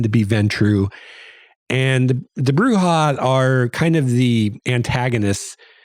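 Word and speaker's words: Brujah: first uh clan is the bruja or the bruja i think the second pronunciation is probably the correct one but i've heard both and they are kind of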